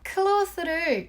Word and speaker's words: clothes: 여기서 발음을 보면 clothes는 th 사운드로 끝나고 clothes는 th 사운드 없이 z 사운드로 끝내주세요.